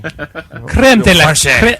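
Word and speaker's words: crème de la crème: A little bit more Frenchy. Creme de la creme.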